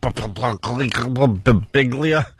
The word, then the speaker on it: Birbiglia: And then Mike Birbiglia. How do you say his last name? I get to Brig and then my brain shuts down. Birbiglia.